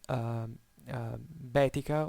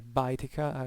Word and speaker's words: Baetica: The Roman province of southern Spain was called Baetica or Baetica, as you wanna different kind of pronunciations you wanna use for Latin.